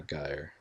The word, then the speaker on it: gyre: Parable litany ravel caesura gyre. Perhaps it's pronounced gyre. Gyre. It is pronounced gyre.